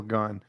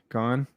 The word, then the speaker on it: Gane: in my prospects video serial gun like i don't think that's how it's pronounced dad all right another jab there by gone this leg kick there